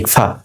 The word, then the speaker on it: ইখফা: যেমন বাংলা, এই যে নং সাউন্ডটা আসছে না, অনুস্বরের সাউন্ড যেটা, এটাই হচ্ছে আপনার আরবিতে যখন পড়বো আমরা ইকফা, ঠিক আছে? ইংলিশ ইএনজি যে সাউন্ডটা, এটা হচ্ছে ইকফা, ঠিক আছে?